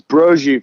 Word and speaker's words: Broggi: well well it was it was brrojie for a long time that's where the italians would say it and then my italian